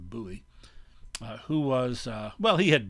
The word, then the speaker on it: Bowie: upper right jim bowie sometimes pronounced bowie but more often buoy who was well he